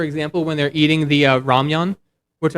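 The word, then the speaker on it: 라면: The animation they do, for example, when they're eating the ramyun, which I love how they say ramen. It's ramyun.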